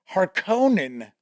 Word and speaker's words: Harkonnen: Frank Herbert didn't believe in official pronunciations. This was discussed when people debated whether the movie was saying Harkonnen correctly.